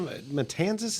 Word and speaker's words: Matanzas: And you went to Matanzas? Is that how you pronounce it?